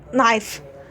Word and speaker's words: knife: It's always pronounced kick. As in kick. So, except when it's not knife.